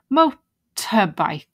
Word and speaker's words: motorbike: Mo oh that's easy motorbike motorbike and yeah notice as well the T like we had visitor motorbike it's just uh